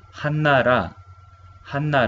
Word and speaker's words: 한나라: Pronunciamos Hannara.